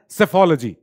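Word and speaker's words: psephology: उसको हम कहते हैं सेफोलॉजी ये स्टडी ऑफ इलेक्शन होता है इसमें हम देखते हैं इलेक्शन का डटा क्या है जो लोग इलेक्शन को स्टडी करते हैं उन्हें सेफोलॉजिस्ट कहते हैं पीस साइलेंट है नाउ अब पीआरएस टीवी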